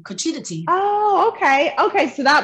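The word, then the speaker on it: cuccidati: donata says that those are fake cookies it's pronounced cochita tea cochita tea oh okay okay so that must be the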